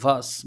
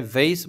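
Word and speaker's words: vase: প্রথমটা হচ্ছে ভ্যাস অথবা ভাস বলে না এটাকে দুই ভাবে উচ্চারণ করা যায় ভেস বলা যায় আবার ভাস বলা যায় ঠিক আছে এর মানেটা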